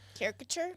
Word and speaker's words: caricature: Caricature. Yes. That extra syllable in there throws me.